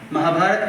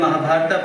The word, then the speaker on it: Mahabharat: tell you in fact we try to equate the pronunciation also the way they they pronounced and therefore Ramayan become Ramayana for us. Mahabharat become Mahabharata for for us. Yog become yoga for us.